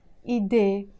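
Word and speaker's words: إيده: No, I'm just dropping the dhamma here. And I'm saying ide, ide, pronounced as ide. Even if this H is here, I'm not pronouncing it.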